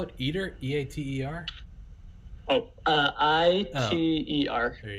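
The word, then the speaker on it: ITER: about it's a mammoth undertaking how do you spell it eater e-a-t-e-r oh uh i-t-e-r there you go yeah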